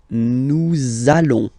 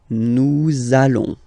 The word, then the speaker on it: nous allons: So it does mean that you will have to pronounce this z sound. Okay, listen to me. Nous allons. Nous allons.